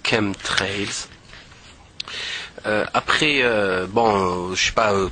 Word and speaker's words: chemtrails: sur les camp trails les Chem trails ou Shem trails mais ça se prononce Chem trails après bon je sais